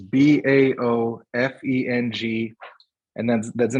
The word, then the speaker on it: Baofeng: The ones we bought are called, I don't know how it's pronounced. It's BAOFENG, and that's the name of the brand.